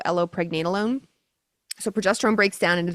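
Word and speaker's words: allopregnenolone: So, what happens is progesterone breaks down into a metabolite called allo, not like the plant, but it's spelled a l l o allo pregnenolone.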